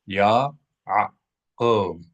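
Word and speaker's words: יעקב: So Yaakov. We know to accent the first syllable because there is a mether, a little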